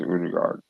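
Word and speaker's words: Ødegaard: I think Saka is gonna score, and Udegaard, aka Udegaard, is gonna score for Arsenal. Odegaard. Udegaard, as our friend Gary and Tony likes to say, even though Tony says it's the wrong pronunciation, it's Udegaard.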